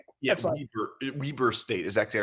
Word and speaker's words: Weber: Weber Weber State is actually how it's pronounced.